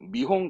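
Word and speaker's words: 見本: 홍 아니에요 발음은 미홍합니다 보다의 미르의 미와 홍 미홍 그래서 발음을 하거든요 미홍 전 뭐 샘플 미용하죠 하다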